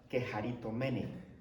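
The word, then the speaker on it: κεχαριτωμένη: Esa palabra, llena de gracias, en griego se pronuncia keharitomene.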